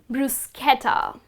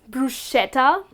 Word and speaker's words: bruschetta: you spot this well we all tend to pronounce it as bruschetta but it is bruschetta well it is a grilled bread which is topped with some olive oil with some herbs and with some chopped tomatoes and garlic it's delicious but the correct way to pronounce it is bruschetta and not bruschetta moving on to the